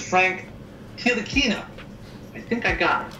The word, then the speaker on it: Frank Ntilikina: And I know for a fact that I'm going to butcher the pronunciation on this, but it's Frank Ntilikina.